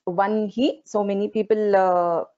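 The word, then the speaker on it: वह्नि: जनवत्सला वाग्वादिनी वामकेशी Vanhi Mandal Vasini But it's one he. So many people pronounce this slightly differently. It should be pronounced as one he mandala vasini.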